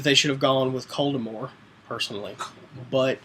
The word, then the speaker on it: Voldemort: I think that they should have gone with Coldemore, personally, but Oh, I see you're going with the French pronunciation. That's the correct way.